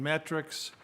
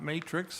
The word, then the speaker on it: metrics: is here and so in metrics not matrix i've said it wrong so metrics is certainly